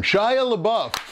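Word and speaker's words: LaBeouf: how you say his name I'll be darn shy abuff um he's the latest Mega Superstar rumored to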